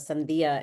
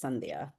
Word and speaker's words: Sandia: Well, if you speak Spanish, um, Sandia is watermelon in Spanish and my accent's just on the first syllable. So, instead of Sandia, it's Sandia. Sandia.